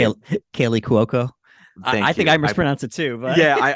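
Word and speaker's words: Kaley Cuoco: Kaylee Cuoco. I Thank think you. I mispronounce it too, but Yeah, I mispronounce it all the time.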